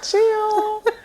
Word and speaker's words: Cyhl: But his name is spelled Cyhl. So I was like, Cyhl, chill.